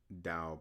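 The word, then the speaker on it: Tao: was called um the tow of physics. the T AO pronounced DAO depending on where you are and um by FOV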